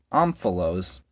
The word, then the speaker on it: omphalos: Till he sat down on the omphalos. That's how you say it, apparently. It's Greek.